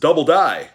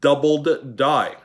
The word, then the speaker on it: doubled die: to die happens okay why is there that extra d at the end of doubled and not just double die you know it sounds stupid sorry guys for people actually say it like that but it's always been doubled die you guys understand what